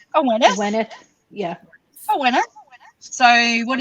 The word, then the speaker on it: Awenydd: So you've mentioned her podcast before, her YouTube channel before, Awened, but we'll say it like Neil says it. Aweneth.